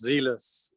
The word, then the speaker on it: Zelus: wrong uh it's pronounced zealous so it's a long e it's the greek god of competition and rivalry perfect excellent thank you